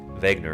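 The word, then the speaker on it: Wegener: these people Vagner Vagner afred Vagner Vagner is the right way to say it uh and there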